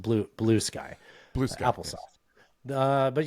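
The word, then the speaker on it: Bluesky: Blueski, it's I believe it's by the people that created Bluey. They have a social media account now. I'm being silly. It's pronounced blue sky.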